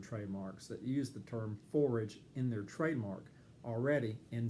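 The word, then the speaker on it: Phorage: they sound the same you would pronounce forage in forage kitchen pretty much how you would expect to say the word forage p-h-o-r-a-g-e and so that's a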